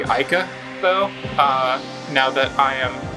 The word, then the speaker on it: Aika: I don't actually know how to pronounce her name correctly. I've always referred to her as, Irika. I'm pretty sure it's supposed to be Aika, though, now that I